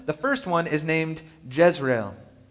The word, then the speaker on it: Jezreel: The first one is named Jezreel, a name that's spelled like in Hebrew and sounds like Israel.